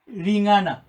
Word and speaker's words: Ling'ana: Even from the word itself, Ling'ana, we have syllables. Ri as one syllable, ri. Nga as a second syllable, and na as a third syllable.